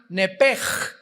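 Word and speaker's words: נפש: el hebreo es nepesh, se pronuncia nepej. La ch en hebreo se pronuncia como J.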